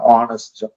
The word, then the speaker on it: honest: Honest, hour, and all the H. Most of the H in the beginning are silent.